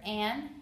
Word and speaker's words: Anne: The first word, Anne, has one syllable and the E is silent. So I wrote one and silent E.